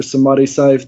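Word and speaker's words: Samadhi Cyph: All my solo tapes you can find on SoundCloud at Sam Syph or Samadhi Syph. That's spelled SAMADHI space CYPH.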